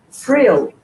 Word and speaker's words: vril: The way you pronounce, the V is pronounced like an F, so it's the same sound.